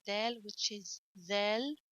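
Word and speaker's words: ذ: like del which is zell don't forget to stick your tongue out when you pronounce that three dots don't forget in fact three dots you have to stick your tongue a little bit out and with vel as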